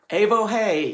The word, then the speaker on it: Evohe: It's spelled I-O, yo, which is an exclamation of joy. Evohe, E-V-O-H-E.